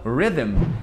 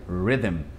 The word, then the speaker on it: rhythm: esse H, não sei nem como a gente pronunciaria esse H, não faz nem sentido. E com R, por exemplo, a palavra rhythm, que é a palavra mais bizarra em inglês, porque ela não tem nenhuma vogal.